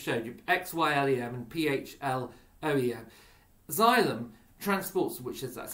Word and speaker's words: xylem: that i've just showed you xylim and p-h-l-o-e-m xylem transports which is that's how it's pronounced transports water from the root from the